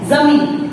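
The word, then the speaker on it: ज़मीन: है कि जमीन, जमीन, हम लोग इसको जमीन बोलते हैं पर सच में ये होता है जमीन।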